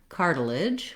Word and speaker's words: cartilage: So first of all, in the word cartilage, we have 3 syllables. The first syllable, car, is stressed, and it has the clear R diphthong.